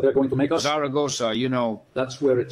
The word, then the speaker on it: Zaragoza: going to make us Saragosa you know that's where it starts you know that they say it is the only word that is accented in all its syllables Zaragoza and then Zaragoza in